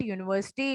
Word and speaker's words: university: But when I pronounce it, university, it is giving the sound of Y, Y-O-U.